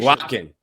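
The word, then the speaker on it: Eguakun: We did get an update on his name though, his pronunciation. Aguakin. Yeah, Aguakin.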